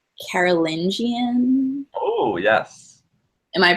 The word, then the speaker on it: Carolingian: When I read stuff about Charlemagne, I often see the word like Carolingian. Oh yes, Am I pronouncing that correctly? you are. So the Carolingian dynasty was actually started by his father, Pepin